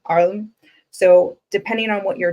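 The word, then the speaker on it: ailm: you can actually say the OM pronunciation for Pine is arlam a i m arlam so depending on what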